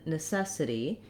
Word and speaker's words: necessity: pronunciation of the word also in necessity the letter t is gonna sound more like a d sound um because it's unstressed it's between two vowels so it's gonna we're